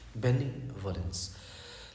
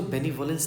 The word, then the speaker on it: benevolence: ठीक है, और इसके लिए वर्ड होगा हमारे पास BENEVOLENCE, बेनिवोलेंस। लेकिन इसको बेनिवोलेंस नहीं पढ़ते हैं, बिनेवोलेंस पढ़ते हैं, बिनेवोलेंस।